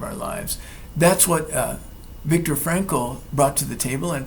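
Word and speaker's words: Viktor Frankl: Although an older book by Vic Victor Frankle, I'm going to spell it because it's not the way it sounds.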